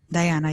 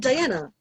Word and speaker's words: Dahiana: close that okay uh dahiana diana yes i'm here oh okay so you pronounce it diana yes oh that's cool